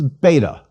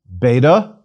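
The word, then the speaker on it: βῆτα: Our next letter is beta. Again, not a problem. We will pronounce it like our own B. Please repeat, beta, B.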